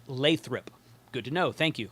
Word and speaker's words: Lathrop: Paul Lewin in the chat says it's pronounced Lathrop.